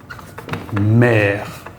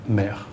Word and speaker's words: mère: It's not as open as the A, it's eh. And you'll see this, for example, in words like père, father, mère, mother, eh. So this is a case where the accent does distinguish pronunciation with the E. The eh, père, mère, for example.